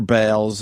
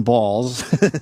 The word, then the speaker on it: Baals: new building citizen Square the real Harry balls who indeed pronounced his name balls course right here was Fort Way's mayor from 1934 through 47 and again through 51 uh to 54 his descendants changed the pronunciation to bals BS City officials initially